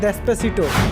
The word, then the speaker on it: Despacito: एक गाना भी स्पेनिश में बहुत ही ज़्यादा वायरल था, उसका प्रोनाउंसिएशन क्या है? डेस्पेसिटो।